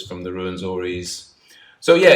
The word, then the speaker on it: Rwenzoris: So yeah, it's a difficult word to pronounce when people look at it, and then it starts R-W-E-N. Some people struggle to pronounce it, but it's you start with Ru, as in kangaroo. So I guess you get in very.